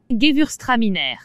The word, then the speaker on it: Gewürztraminer: Comment prononce-t-on ce célèbre vin d'Alsace? Gewürztraminer.